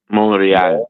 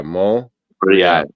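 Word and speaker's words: Montréal: Is it pronounced in French Montreal? Montreal. Okay. So you don't say the T, yeah, Montreal.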